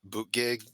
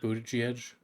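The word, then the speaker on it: Buttigieg: Minnesota Shapiro the governor of Pennsylvania and Pete boot gig I will never pronounce his last name correctly isn't it boot Edge yeah I I I I can't say that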